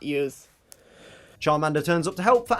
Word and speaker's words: Charmander: that you'd even think that we would pronounce charmander as chominder chawminder but of course what should